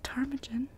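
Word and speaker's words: ptarmigan: same so always remember i'll be emphatic the p is silent as in nomadic so i was right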